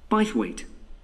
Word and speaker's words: Bythwaite: free and the show is being held in bythwaite hall sorry how'd you spell that b y t h w a i t e by weight so this is bias weight hall that was